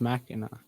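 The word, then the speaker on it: Mackinac: you by the way why is this spelled with a c if it's pronounced machina exactly welcome to michigan don't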